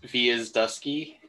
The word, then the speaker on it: Gwiazdowski: It's V is Dusky.